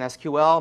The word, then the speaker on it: SQL: never heard the abbreviation SQL most people pronounce it SQL although I believe technically that is not correct uh is the query